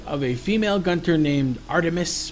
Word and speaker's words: Art3mis: missives the blog of a female Gunter named Artemis pronounced aremis cuz it's art3mis I discovered about it